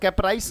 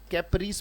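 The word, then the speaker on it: caprice: और कैप्राइस नहीं पढ़ना है, उच्चारण क्या है इसका, कैप्रीस पढ़ना है बेटा इसको, कैप्रिस।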